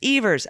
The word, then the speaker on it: Evers: surprised Governor Tony Evers pronounces his last name to rhyme with beavers Evers okay thank you I